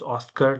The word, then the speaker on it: OSCA: For example, the new occupation classification system that ABS implemented early this year, late last year, called OSCA, OSCA, but pronounced Oscar like the awards, is we did an explainer on it to specifically point out what the changes were for mining and automotive.